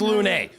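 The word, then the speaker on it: Lune: Lun? It is Lun.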